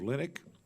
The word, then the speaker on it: Linick: to our subcommittee this morning uh Mr Steve linck is that correct pronunciation that's correct sir uh Inspector General for